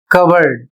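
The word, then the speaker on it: cupboard: इसे पढ़ा जाएगा, स्पेलिंग है इसकी CUPBOURD और इसे पढ़ा जाएगा कवर्ड और इसकी हिंदी होती है अलमारी।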